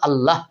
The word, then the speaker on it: আল্লাহ: আকারটাই দিলাম তাহলে আল্লাহ আল্লাহ হ অ পর্যন্ত যাচ্ছে না বন্ধুরা আশা করি বুঝতে